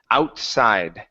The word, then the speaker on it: outside: Okay, pronounce the T there in the middle. Instead of saying outside, it's out. Outside. Outside.